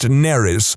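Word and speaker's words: Nerys: fine, except that it's spelled exactly the same as a Welsh name, which is pronounced Neris, which is entirely not what I was going for.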